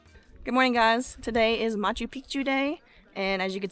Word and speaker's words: Machu Picchu: The second is you might be hearing me say Machu Picchu, which is pronunciating both C's. That means old mountain. But if you say it like most Americans, which is just Machu Picchu, that means old penis.